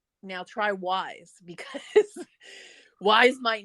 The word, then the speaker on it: Wise: you pronounce it uh sometimes we say we is it's pronounced wise on their commercials so but just like